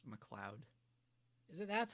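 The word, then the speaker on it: MacLeod: yeah there you go mccloud mcleod i've been saying it wrong my whole life yeah it's it's like scottish i think oh but why is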